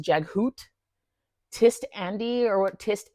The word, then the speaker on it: Jaghut: Jaghut is Jaghoot, Tist Andy or what Tist anything is now Ticed.